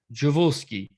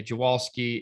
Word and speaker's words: Dziwulski: In Poland, technically it's pronounced Dziwulski, I believe. Like the DZI makes a bit of a J noise, so Dziwulski. But in Maryland, we say Dziwulski. If you say Dziwulski, that's acceptable.